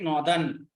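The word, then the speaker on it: Naughton: Patrick Norton. Okay, G is silent here.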